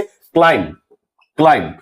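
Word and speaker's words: climb: इसी तरह से क्लाइम, यहां हम लोग क्लाइंब नहीं पढ़ते हैं क्लाइम।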